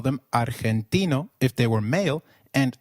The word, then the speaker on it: argentino: Did you notice that Argentino is pronounced as Argentino? In Spanish, G, when followed by E or I, is pronounced like a throaty H. So try saying Argentino again. Argentino.